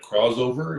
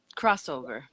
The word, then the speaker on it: Krozover: And today I'm here with, I want to say, sure I say it right, Krozover. Is that the correct way to say it? Crossover. Crossover. I put the Z in there.